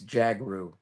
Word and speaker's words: Jhagroo: It's actually pretty simple. It's Jagaroo. Jagar. That's it. All right. It's like Django.